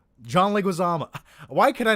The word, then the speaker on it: Leguizamo: um i thought john leguizam john leguiza john leguizama why do you think i'm saying his name wrong john leguizomo john leguizamo why could i not remember how to say